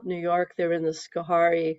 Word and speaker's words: Schoharie: They're in the Schoharie, I think that's how you pronounce it, Schoharie Valley.